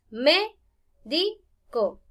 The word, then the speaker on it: médico: Me doy cuenta que al pronunciarla hago 3 espacios silábicos. Médico. Ahora veamos. Última, penúltima, antepenúltima. Por eso es que esta es esdrújula con tilde.